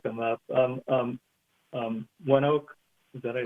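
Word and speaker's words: ONEOK: have to look them up um um um one Oak is that I pronounce it okay yeah so that's more of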